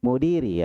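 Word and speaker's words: مدير: Mudiri ya. Mudiri. Dalnya panjang.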